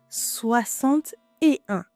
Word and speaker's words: soixante-et-un: now, let's see here soixante-et-un you see first we didn't pronounce the "x" sound it sounds like "x" was an "s", like in dix you remember soixante-et-un here